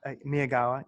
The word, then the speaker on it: Miyagawa: It's Miyagawa.